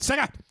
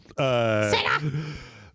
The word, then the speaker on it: Sega: Also, in this house, we pronounce it Sega. Sega.